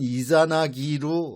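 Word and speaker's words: イザナギ: 나왔나 그래요 아니고 어 이진나 씨는 씨의 발음을 일본에서는 이자나기 하게 됩니다 같은 인물이에요 저는 그렇게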